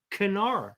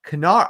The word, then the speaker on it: Knarr: The Nerd Shelves left, but this game is pronounced Knarr. Knarr.